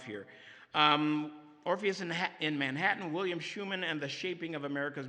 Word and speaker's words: Schuman: He pronounces it Schuman, rhymes with Truman, the president, and this is William